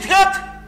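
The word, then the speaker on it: thirty: Pour me dire 30, moi, je stresse. Premier syllabe là.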